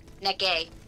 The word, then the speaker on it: Necker: Necke, I guess, would be his... Necke. Don't pronounce the final R's in French.